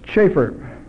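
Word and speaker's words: Chafer: Schaefer. Schaefer. C-H-A-F-E-R. Schaefer. C-H-A-F-E-R. I haven't used some of these old fundamentalist names for so long, I forgot his pronunciation, but it is Schaefer, I'm sure. C-H-A-F-E-R, not Schaefer.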